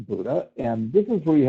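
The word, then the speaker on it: Bodø: actually spelled b o Doo but it's actually pronounced Buddha and this is where you have the highest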